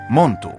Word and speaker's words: Montu: Montu, którego imię wymawiano jako Montu, był jedną z najbardziej dynamicznych i wojowniczych postaci w mitologii starożytnego Egiptu.